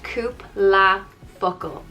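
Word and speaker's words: cúpla focal: and focal is words it's pronounced coupe la focal cubelefocal it would be used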